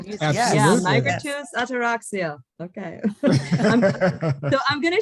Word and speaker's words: Migratus Ataraxia: It's Migratus Ataraxia. Am I pronouncing Correct. it right? Or do you, Absolutely. yeah, Migratus Ataraxia.